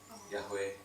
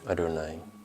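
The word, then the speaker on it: Yahweh: Jadi si Yahwe ini enggak dibaca Yahwe tapi dibacanya. Adonai.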